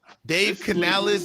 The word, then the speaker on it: Dave Canales: Dave Canales. This is how you pronounce his name.